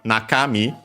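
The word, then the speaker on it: 中: and so on uh on its own accent on the first moa naka then me uh we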